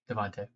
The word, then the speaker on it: DeVonta: Devontae. Devontae Smith. It's spelled Devonta, but it's definitely Devonta.